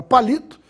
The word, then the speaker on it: palito: portanto é uma proparoxitono a palavra palito tem a sílaba mais forte na penúltima sílaba no li portanto é uma palavra paroxítona e a palavra palitó tem